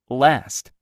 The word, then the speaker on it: last: last, last입니다. last. 에 발음하세요. last. A가 에 발음.